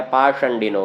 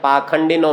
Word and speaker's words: पाषंडिनो: थोड़ा सा समझ लीजिए, यहाँ जो ये मूर्धन्य शकार लिखा हुआ है पाषंडिनो, किसी किसी पुस्तक में पाखंडिनो मिल जाएगा। वास्तव में मूर्धन्य शकार का उच्चारण कुछ संप्रदायों में ख ऐसा करके किया जाता है।